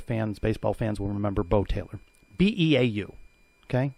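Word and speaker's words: Beau Taylor: A couple of years ago, baseball, there was a player, Bo Taylor. UCF fans, baseball fans will remember Bo Taylor. B-E-A-U. Okay? Bo Taylor. They had a pronunciation after Bo.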